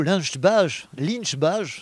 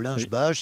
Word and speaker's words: Lynch-Bages: de temps, à 16h, il y a un château Lynch-Bages, comme ça qu'il pourrait dire, ou Lynch-Bages, si on prononce à la française.